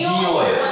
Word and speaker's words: Nio: Para pronunciar. 제 현지 이름이 니오예요.